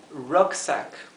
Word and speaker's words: rucksack: Aquí la S no se encuentra entre dos vocales. Por lo tanto, la S se pronuncia S, la S suave, ¿verdad? Ahora, la R, recuerden pronunciarla como la L, pero separen la lengua del paladar. Rucksack, rucksack, rucksack, rucksack. Si les cuesta decir rucksack, divídanlo en sílabas. Rucksack. Ruck se pronunciaría como un entremedio de una A y una E. Ruck, que es el sonido típico de la U, ¿verdad?